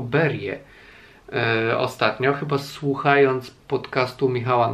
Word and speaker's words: Berge: Dowiedziałem się, że Berge czyta się jako Berie ostatnio, chyba słuchając podcastu Michała Nogasia w Radiu Książki.